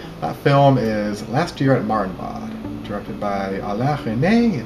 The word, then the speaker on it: Marienbad: How do you pronounce the name of that movie? Last Year at Marienbad. Last Year at Marienbad?